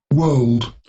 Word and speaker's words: world: world, شايفين هنا في البريتش accent الآر عندنا ما تنطق، okay? world world, الآر ما هي فيه، لكن هنا world, الامريكان اكسنت الار منطوقه، اوكي؟